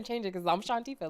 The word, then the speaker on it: Shawntifah: It's Shantifa.